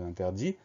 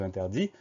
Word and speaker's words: interdit: On remarquera qu'il y a une lettre muette, le T muet à la fin de interdit.